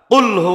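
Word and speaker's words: قل: কুল মানে আপনি খান এখন যদি আপনি সূরা এখলাস কুলহু আল্লাহু আহাদ কুলটা শক্তভাবে বলেন তাহলে অর্থ হবে আপনি বলুন আল্লাহ এক যদি স্বাভাবিকভাবে বলেন শক্ত উচ্চারণ না করেন কুলহু আল্লাহু আহাদ আপনি খান আল্লাহ এক রাতদিন তফাত হয়ে যায় সামান্য কারণে এটা কিন্তু সব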